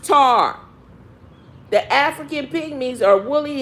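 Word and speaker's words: Ptah: called African py me is rightly pronounced tar the African pygmies are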